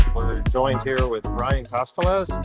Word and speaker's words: Castalez: We're joined here with Ryan Castalez. How do you say your last name? Castalez, you got it.